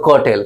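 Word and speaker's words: curtail: समझते हैं मेरे भाई कर्टल यहां पे आर साइलेंस से मैंने कल ही बताया था कि वॉयल के साथ आर आ जाता है तो आर का प्रोनंसिएशन साइलेंट कर देते हैं तो कटेल क्या बोलेंगे कटेल अब आ जाते हैं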